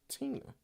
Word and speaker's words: Tina: name uh don't uh miss tina said my name is pronounced tina i apologize i was